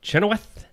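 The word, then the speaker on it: Kristin Chenoweth: he could I think Kristen chenowth is that how you say it always chenowth okay 56 actress what's she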